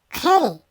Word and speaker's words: kiri: Se escribe kiri, se pronuncia keri.